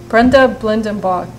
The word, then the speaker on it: Brenda Blindenbach: astral connections and here with me I have Brenda Blendon Bach she's a data healing instructor and business mindset coach did I pronounce that right yes you did good for